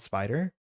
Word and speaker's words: SP//dr: the official pronunciation of SPDR and ended up finding it briefly mentioned in Marvel Rivals. Penny calls it spider. Oh, yeah. I guess she does say it in that game. I think SPDR is like just the language we expect.